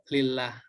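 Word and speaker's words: لله: ditulisnya menjadi lillah ya jadi alif lam nya hilang jadi kalo tulisannya seperti ini ya tulisannya seperti ini maka itu dibacanya lillah ini cara penulisannya ya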